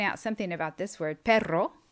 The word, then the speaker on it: perro: something about this word perro is dog but if you spell it with one ere in the middle looks like the spanish p-e-r-o it's pero and it means but or however so it's really important to practice your pronunciation so that you can distinguish between the two words let's move on to